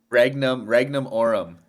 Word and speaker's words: Regnum Aurum: Can one of you please pronounce the Latin shit for me so I can understand? I can say it properly. Regnum Aurum Acquisition Corp or RAAC.